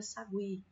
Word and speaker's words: sagui: Qual das duas está tendo o som mais forte? Qual dessas duas vogais aqui está saindo mais demoradinha? Olha, pronunciando novamente a palavra sagui. Sagui. Olha, se você observar bem, qual é a vogal? Isso mesmo, a letra I, a vogalzinha I.